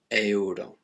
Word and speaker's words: euro: but just one sound in spanish you still have to pronounce each one separately the same happens with euro the currency of spain it's euro now if there's a